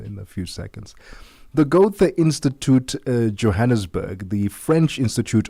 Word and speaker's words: Goethe: Emmanuel, let's talk about this initiative and please help me pronounce Goethe Institute.